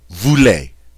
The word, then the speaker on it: voulez: and it is vous, voulez. The easy is pronounced a, vous voulez.